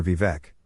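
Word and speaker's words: Vivek: Supreme as doam maer vivec rhymes with we wake writes the Supreme Court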